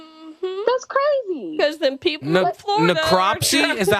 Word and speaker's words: necropsy: species is endangered that's crazy because then people necropsy is that how you pronounce that necropsy yeah performed by the Florida Fish and Wildlife